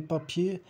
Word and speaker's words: papiers: E o S de papier no plural também não se pronuncia.